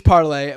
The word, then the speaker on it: Parler: media platform was like, you actually have to pronounce our the name of our platform after the actual French of all the languages.